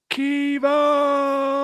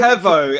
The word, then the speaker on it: Kevo: to I want to go Keo it's Kevo how can you not